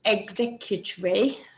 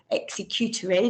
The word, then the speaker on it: executory: the future yes that's known as executory or executory depending on how you want to pronounce it and something that is